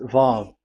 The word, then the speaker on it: Vav: So it's V as in Vogue. So it's really V. How to read Vogue? So the word, the shape Vav is really pronounced V, like Vogue. That is it, pronunciation. So here in this side, it's pronunciation. This is pronunciation. So according to the old Hebrew word today, those who, the owner of the words, I mean, so it's a V. So don't change it into W.